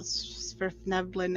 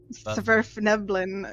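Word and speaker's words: svirfneblin: And I think you're adding an N in there. And there's no N in the start. Zurf Neblin.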